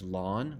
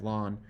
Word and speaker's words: ln: really log base e it's s pronounced as lawn like you mow your lawn um you might hear that from people sometimes so we have Ln or we have lawn um you know Ellen is more common nowadays